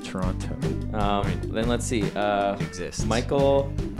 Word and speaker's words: Toronto: Yeah, Brendan actually pronounces the T in the end of Toronto.